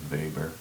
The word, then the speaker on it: weber: name and it's called a vapor looks like weber if you anglicize it but in german pronunciation to weber and this is given a symbol wb okay